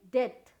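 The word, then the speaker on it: debt: अब यहाँ पे हम बी से साइलेंट लेटर, यहाँ पे देखिए डेथ, डेप्थ नहीं, डेथ, बी साइलेंट है।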